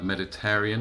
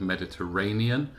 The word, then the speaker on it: Mediterranean: literally one or two which were mispronounced for example medet Aryan instead of Mediterranean however in the context